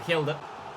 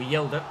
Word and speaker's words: Hjelde: Good block by Hjelde. Or Hjelde. The H is silent, I believe.